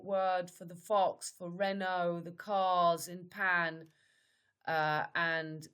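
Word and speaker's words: Renaud: But this is a very famous French singer who looks just like him, who's called Renault, the fox. And this is, you see, Renault is the same pronunciation.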